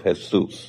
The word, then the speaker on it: Jesús: called the politics of hes mhm so it's uh Jesus with an accent on the U so you have the Spanish and it's how to